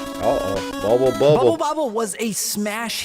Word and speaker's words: Bubble Bobble: because a lot of people think it's bubble bubble like the same word right but it's bubble bubble that recently it made